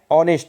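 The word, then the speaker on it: honest: तो जैसे हम अब देखिए एन ऑनेस्ट, अब देखिए एच यहाँ पर साइलेंट होता है, तो ऑनेस्ट होता है, ठीक है।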